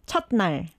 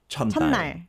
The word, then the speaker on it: 첫날: But in this case, when the 받침 is 시옷, you don't really pronounce the 시옷 as S, but you pronounce it as like just closing your mouth, like 첫, 첫, 첫날. 첫날, 첫날.